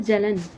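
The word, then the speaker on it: Jalan: The right answer is Bimal जलन। बिमल जलन या जालन, जैसे इसको प्रोनाउंस करना चाहें।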